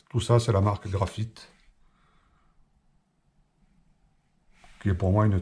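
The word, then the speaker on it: Graph'It: Et j'aime bien aussi les graphites.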